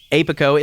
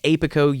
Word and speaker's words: APICO: look today into apico apico at least i think it's pronounced apico as in apiary apico apico all caps